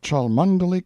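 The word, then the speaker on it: Cholmondeley: style being The Honorable Kirk cudbright Lanover Marjorie Banks sellers Viscount Berkeley of charmandali Castle Warwickshire pronounced kacubri slanover Marsh Bank sellers VI count Barkley of Chumley Castle Yorkshire he is standing by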